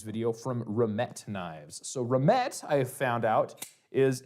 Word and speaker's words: Remette: So remmet I have found out is a variation on a word I want to say it's pronounced remmet. I could be wrong. It's a French word which my understanding I'm